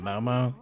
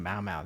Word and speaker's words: Maomao: She just pronounced her name Momo. Am I pronouncing her name correctly? I've been saying Mao Mao this whole time.